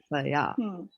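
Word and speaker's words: कृपया: So you're going to say here. Not higher. Okay. Here. Because there's no A in between. But here there's an A. So Kripaya.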